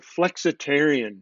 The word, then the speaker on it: Flexitarian: Then the next one was the Flexitarian Diet, which I personally, that's my favorite because it rhymes with vegetarian, therefore obviously it's gotta be healthy, right?